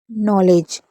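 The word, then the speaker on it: knowledge: जैसे नेब, नी, न्यू, new, knife, knit, नॉलेज। नॉलेज में डी भी साइलेंट है क्योंकि डी और जी साथ में होता है तो डी साइलेंट रहता है।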